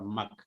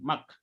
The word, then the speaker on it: mak: One is regarding the use of the negative marker ma or mak. Okay, the form is mak, but usually in fast speech, speakers do pronounce it as ma also.